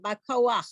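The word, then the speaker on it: בכח: Okay, remember to get that ch sound at the end, Bakoach.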